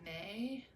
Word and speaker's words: me: And these things are, they are called May, but it's spelled M-E.